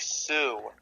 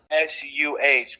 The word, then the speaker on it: Suh: You do pronounce the C-E. Yes, you do. Like Dominic Sue. Oh, yeah. S-U-H.